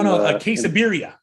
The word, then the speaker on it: quesabirria: Oh no, quesabirria.